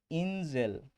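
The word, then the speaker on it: Insel: তারপরে হচ্ছে যে আই কে ই উচ্চারণ হবে ইনজেল, ঠিক আছে?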